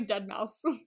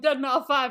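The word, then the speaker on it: deadmau5: It's literally Dead Mouse. Oh. Wow. I was like walking around going Dead Mouse 5, and people were like, "You know that's not how you say it."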